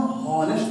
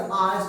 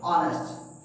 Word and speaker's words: honest: मतलब ये लिखा हुआ क्या है, कि इसको हम HONEST, इसको हम हॉनेस्ट तो नहीं पढ़ सकते, इसका ऑनेस्ट पढ़ते हैं, ऑनेस्ट।